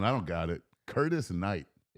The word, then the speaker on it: Knight: Curtis Knight. Yeah. Ooh. And it's this. And the K is silent. Knight.